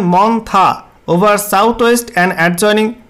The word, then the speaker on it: মন্থা: তো সাবজেক্টে বলা হয়েছে সাইক্লোনিক্স টারম মন্থা pronunciation মন্থা over south West End এডজনিয়েনিং West central বে অফ বেঙ্গল।